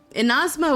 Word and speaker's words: Inazuma: in asthma mm-hmm well that's the enosmo would be the japanese pronunciation pronunciation seeing that i've heard that that region is based that that region is based off of japan japanese pronunciation would make sense unfortunately poncho i'm